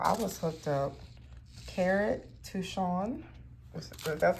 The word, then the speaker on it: Touchon: Carrot touchon.